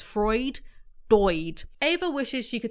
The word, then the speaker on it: Freud: play football calm down fruit no Freud Freud Freud dude then that's not how you pronounce it so it's Freud Boyd Ava wishes she